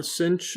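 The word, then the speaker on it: sinh: what we're given in a lecture pdf so cinch uh it's it's pronounced cinch of x hyperbolic sine is equal to x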